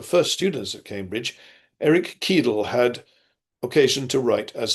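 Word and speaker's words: Ceadel: Eric Keedell had occasion to write as follows. That's Kedle spelled C E A D E L. But the C is a hard C.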